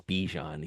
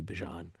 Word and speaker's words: Bijan: Everyone says Bijan. He's like, "It's actually Bijan."